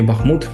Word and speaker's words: Бахмут: цим прикладом буде місто Бахмут чи Бахмут як то називає так як я читав можна в принципі кожний наголос має право на існування він керував обороною цього